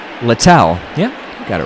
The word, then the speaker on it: Littell: see how I want to make sure I pronounced that correctly littell yeah I got it right starter turned reliever